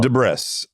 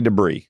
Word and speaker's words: debris: Oh, de Brris. I never say debris, right? Cuz it spelled Debriss and it sounds funnier.